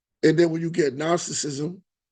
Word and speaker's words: Gnosticism: And then when you get Gnosticism, a lot of people say good Gnos, but G is silent.